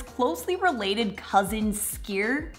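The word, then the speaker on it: skyr: its closely related cousin skier which I think is how it's pronounced is even more impressive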